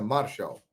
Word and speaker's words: Martial: Se escreve Martial, mas a pronúncia francesa é Martial.